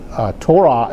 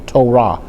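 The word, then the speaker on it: תורה: And so Torah is spelled with a Tav, a Vav, and see that Vav has a holam above it. That gives it a O or U sound for the Tav letters,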